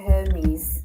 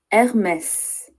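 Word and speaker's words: Hermès: So, we don't say Hermes, we say Hermes. The brand is Hermes.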